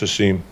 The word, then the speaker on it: Hasim: I think firefighter Bello, I can't pronounce Hasim's last name, so I will just say Hasim. It's a seam.